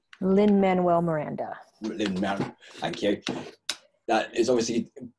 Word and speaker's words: Lin-Manuel Miranda: coup that they got Lin-Manuel, how do you pronounce his name? Lin-Manuel Miranda.